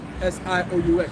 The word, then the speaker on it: Sioux: It's spelled S-I-O-U-X. That's Sioux, or also known as the Lakota.